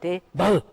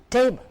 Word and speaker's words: table: It is not table, it's table. The stress is on the first part, table.